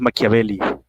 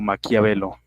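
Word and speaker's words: Maquiavelo: Era Nicolás Maquiabeli, pero pues en español lo pronunciamos como Maquiabelo.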